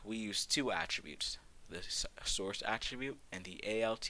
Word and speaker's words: src: this case the attribute is SRC which we pronounced a source the source attribute is where you put the